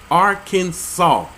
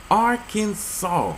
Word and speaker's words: Arkansas: for breaking the law the final s silent Arkansas not sauce Arkansas Arkansas the a in